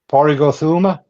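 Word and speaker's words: Pádraig Ó Tuama: I'm not going to try to pronounce that first name. Porrig. Porrig Othuma?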